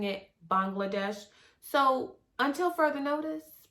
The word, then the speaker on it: Bangladesh: Bangladesh, and I'm saying Bangladesh, even though I've heard some people say Bangladesh, but the young ladies that were there were pronouncing it Bangladesh. So until further notice, it's Bangladesh.